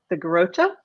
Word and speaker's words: Garrotxa: it for other people, the TXA is kind of a cha, like a CHA sound.